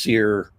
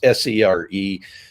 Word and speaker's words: SERE: Now, people may have heard that pronounced SERE. It's SERE. Back when I went through it, the E's were reversed from what they are now.